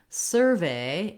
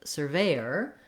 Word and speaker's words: survey: So, looking at survey and surveyor. For survey as a noun, we have first syllable stress, and so this sur syllable is stressed, and it's written with UR in this word.